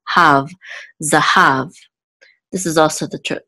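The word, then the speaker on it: זָהָב: zine or the Comets which says za the hey look much with a Kamat so she says ha and it closes that with this vet so have Zahav is cold ok and this is the trip mark so we know that the exit is on the last level have Zahav this is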